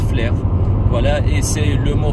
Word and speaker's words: Flers: Flers à leur flair ça s'écrit à la fin S et les gens qui connaissent pas la Normandie prononce Flers mais ça se prononce flair voilà et c'est le